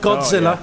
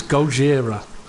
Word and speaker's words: Gojira: You know the correct pronunciation for Gojira. It's not Godzilla, it's Gojira.